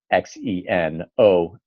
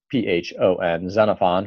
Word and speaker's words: Xenophon: I have read, we've just gone over a dialogue written by Xenophon, spelled with an X, Xenophon, Xenophon, who is a fascinating figure.